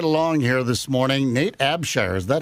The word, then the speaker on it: Abshire: Nate Abshire. Is that how that's pronounced? Yep. Nate Abshire.